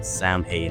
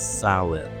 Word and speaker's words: Samhain: But anyways, Halloween originated from the ancient Celtic festival saun sin. If you're Irish, correct me. The spelling is s a m h a i n, but it's actually not pronounced samay. It's salad.